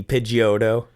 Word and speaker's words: Pidgeotto: say pidgeot i yeah but it's pidgeotto you just kind of say that e pidgeotto pagoda pid pidgeotto pagoda